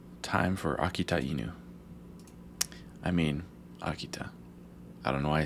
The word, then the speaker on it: Akita: it akita but the the t pronounced like that isn't how you do it in english it's just ta so akita that's what